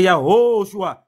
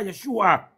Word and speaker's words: Yahoshua: Parce que ce qui est écrit là, c'est Yahoshua. C'est pas Yeshua. Yahoshua.